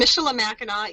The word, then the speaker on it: Michilimackinac: And Michilimackinac, even the fort is pronounced the same way, and it has a C.